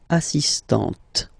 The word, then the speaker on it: assistante: So don't pronounce the final t here. But for the feminine form, elle est assistante.